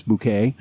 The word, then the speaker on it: Bucket: is really named miss bouquet she calls herself bouquet but it's spelled bucket i mean i do